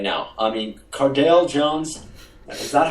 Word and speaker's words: Cardale Jones: I mean, Cardale Jones, is that how you say his name? Yeah, Cardale Jones, yeah.